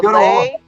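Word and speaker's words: lei: The lay is spelled L-E-I.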